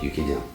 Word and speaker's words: 육개장: Я ему говорю, правильно говорить, юкиджан.